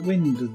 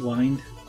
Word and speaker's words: wind: don't turn them you winded them okay some people might pronounce it wined it's actually wind rather than wined but it's spelt the same in UK wim D